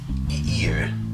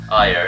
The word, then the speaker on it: Ire: Ear. You say ear? Ire. Ire is the right pronunciation.